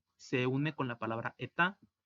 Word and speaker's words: État: La palabra État significa estado o estados, aquí está en plural porque tiene una S. La T y la S no se pronuncian.